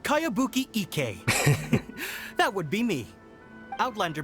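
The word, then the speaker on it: Kayabuki Ikku: one i've never heard of it hmm by cowabunga icky yeah this is a really strange name who's this cowabunga it's pronounced kaiabuki ek that would be me outlander brigade is a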